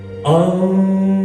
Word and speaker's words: Om: You chant it as Om. 3 syllables, please. U, and Ma.